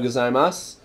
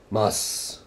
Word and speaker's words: gozaimasu: Ohayo gozaimasu. You'll also just hear mas.